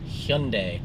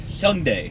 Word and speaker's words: Hyundai: Wednesday for Wednesday's Vlog Hundai Hyundai H not Hyundai not Hyundai hund pretty much everyone pronounces that wrong so hund you might even sound dumb pronouncing it like that but it is the correct way to say it it is indeed and